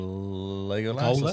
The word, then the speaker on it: Legolas: Legolas.